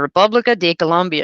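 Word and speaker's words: República de Colombia: kept making me repeat he was not colombia it's the republic this is the republica de colombia and he kept saying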